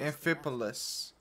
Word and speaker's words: Amphipolis: Amphipolis. Huh. To win back their respect. That's how you pronounce it.